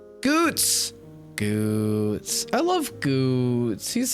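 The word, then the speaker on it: Goetz: Goots is such a delight, but not spelled that way. Yeah. Yeah. Yeah. I only knew how to pronounce it because it's spelled the way Ruggan is spelled. I'm pretty sure. G O E T Z, I believe. Goots.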